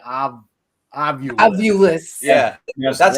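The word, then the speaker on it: Ovilus: They went OVIL, right? Ovul. US, us, ovul, us. People go ovulus. I want to know that you're putting the wrong emphasis on the wrong syllable.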